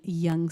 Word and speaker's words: Yonge: y ou ung or you could spell that as y ou ng e once again bringing it back to Toronto as in Yonge Street so this is this